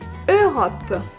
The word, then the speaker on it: Europe: Ensuite, le troisième mot, c'est Europe. Très bien. Donc le E et le U, ça se prononce E.